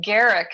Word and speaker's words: Garriock: by their wrong name your last name it's garrick i know that oh you don't say the oh so it's garrick yeah garrick yeah i'm so used to